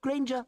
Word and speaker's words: Granger: Potter and granger end with a schwah. Potter. Granger in British English. You don't say porter nor granger.